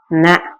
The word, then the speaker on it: ந: மேடான பகுதியை முன்னண்ணம் முன்னாடி ந முன்னத்தை தொட்டு சொல்லணும் நாம அதான் ந அப்ப அந்த மாதிரி சொல்றதுதான் நம்ம சொல்லும்போதே தன்னகரமா இருந்தா நம்ம நாக்க முன்னண்ணத்தில வச்சு சொல்லணும் அப்பதான் அது சரியான உச்சரிப்பு.